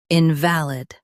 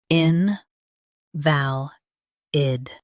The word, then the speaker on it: invalid: Both US and UK have the same pronunciation of this word, invalid. Now read the syllables shown on the screen naturally. In, val, id, invalid.